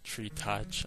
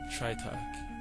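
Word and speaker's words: Tritoch: You got Tritok, Tritach. I mean, I went through so many different pronunciations for it, but I settled upon Tritok.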